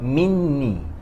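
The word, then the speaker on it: مني: If you see here, the pronunciation for min when it connect to ya is called minni. There's a tashdid at the nun.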